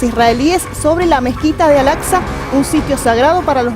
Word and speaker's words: Al-Aqsa: Recién me estaba ayudando a pronunciarla, es Al-Aqsa.